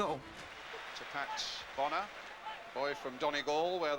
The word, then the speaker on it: Bonner: Donnie G to Pat Bonner boy from Donny Gaul where they tell me in fact you should pronounce it Boner anyway just let you go.